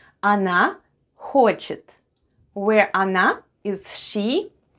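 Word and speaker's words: она: we have o and o is unstressed and is pronounced as a then we have na and then we have i at the end anna anna which is russian for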